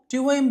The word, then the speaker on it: tomb: whenever we find a word ending with MB, B must be a silent letter. Generally the B is a silent letter. COMB కూమ్, BOMB బోమ్, TOMB tomb ఇలా చూసుకోవాలండి. అంతేగాని బి పలికేసి కూంబు బాంబు ఇలా చెప్పనవసరం లేదు.